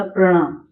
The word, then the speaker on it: प्रणाम: जब मैंने बोला प्रणाम, तो प आधा है और र पूरा है,